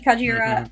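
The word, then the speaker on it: Kajiura: Yeah, I also love Yuki Kajira.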